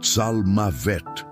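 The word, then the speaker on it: צלמות: A palavra é tsmavet, que se pronuncia tsalmavet.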